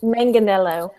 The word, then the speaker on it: Manganello: I love that because Marshmallow rhymes with Manganello.